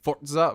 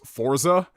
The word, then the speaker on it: Forza: Have you tried Forza on the Series X? Yes, I have played Forza Horizon, and I finally gotten into the habit of saying Forza versus Forza.